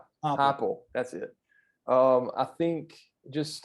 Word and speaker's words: Heupel: I can't pronounce his name. Heupel.